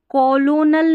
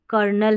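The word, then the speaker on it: colonel: इसलिए अब यहां पर देखिए इसको कॉलोनल नहीं कर्नल है। यह कर्नल। अब देखिए इसमें भी गलतियां होती है क्योंकि जैसे बोला जा रहा है वैसे स्पेलिंग बन ही नहीं रही है।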